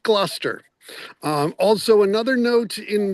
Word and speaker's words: Gloucester: Gloucester, even though it's spelled g l o u c e s t e r, it's just pronounced Gloucester.